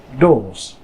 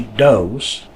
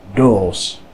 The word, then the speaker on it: doos: Now we have a long O, pronounced O, O, as in the word doos. Now you don't want to say doos, but you want to use that Dutch accent. So, doos, doos.